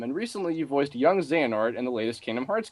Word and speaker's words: Xehanort: bit of them, and recently you voiced young Xehanort in the latest Kingdom Hearts game. That's how you pronounce it.